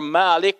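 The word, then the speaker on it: مَالِك: a short a or malik with a long a to me this is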